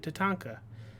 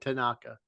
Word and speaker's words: Tatanka: there I go well you said his name wrong first I getting ready you said you said Tanaka ah damn it the